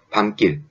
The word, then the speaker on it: 밤길: 그리고 밤길. 네, 역시 마찬가지로 미음과 기역이 만나서 된소리가 기역이 나게 되는 겁니다.